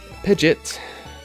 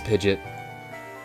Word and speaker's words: Pidgeot: say, a friend that insists that Pidgeot was actually pronounced as Pidgeot because the Pokerap ruined it. Oh, I would have lost that bet apparently. Oh no. It is Pidgeot.